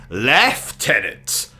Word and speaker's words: Lieutenant: Now, our character in the game is simply called the Lieutenant, or should I say, Lieutenant. After all, that is the correct way to say it, and I'd rather die than use the American pronunciation.